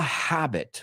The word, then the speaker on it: habit: It's become a habit. Pronúncialo conmigo, porque en español la H es muda.